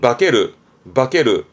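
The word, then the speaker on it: 化ける: 동사로 쓰게 되면 발음은 바케르.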